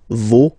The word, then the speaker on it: vos: Okay, so remember, even if you've got this final S, you don't pronounce it, as it was the case already for this word, no, you don't pronounce the final S, vos, you don't pronounce it, leur.